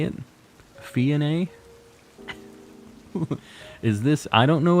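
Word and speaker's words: Phione: It'll always be Fion to me. Yeah, it's tough. It's tough to change your pronunciations on stuff. Emphasize the middle syllable. How do I emphasize? Oh, Fione.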